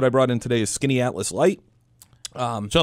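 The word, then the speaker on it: Skaneateles: and uh what I brought in today is skinny Atlas light um so like the uh like the town called Skinny Atlas correct which is quite a little affluent it's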